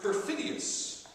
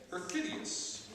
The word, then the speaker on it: perfidious: um let's see uh per per perfidus perfidious is the pronunciation there uh ubiquitous was sounded